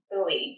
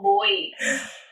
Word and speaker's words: Bui: Oh, no, I think it's a bit more Bui. Yeah, sorry, I say Bui for like, as in that's how I guess most people read it, but I think the pronunciation is like Bui. Not like Bui, which is dust.